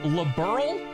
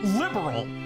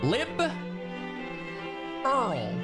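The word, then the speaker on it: Liberl: No, that tiny little pronunciation is all the difference cuz it's not liberal. It's liberal. I r like liberal. Lib Earl. Like a king.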